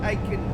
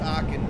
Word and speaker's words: Aachen: Search for Aachen, Germany. Hey Siri. Search for Aachen, Germany. Aachen, yeah, it's Aachen, ladies and gentlemen. So I do apologise, Aachen.